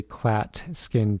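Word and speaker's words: Klatskin: a future question next question what is a clat skin tumor that is spelled k-l-a-t-s-k-i-n what is a clat skin tumor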